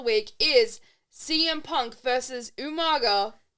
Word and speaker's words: Umaga: And your match of the week is CM Punk versus Umaga. I'd say it weird. Usually I say it friggin' like British. You actually nailed it. I actually said it right.